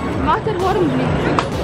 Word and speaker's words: Matterhorn Blitz: ¿Cómo se pronuncia, Ian? Matterhorn Blitz.